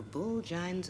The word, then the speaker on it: bulgine: The correct pronunciation of this, and I'm going to try and get it right, is Bulgine.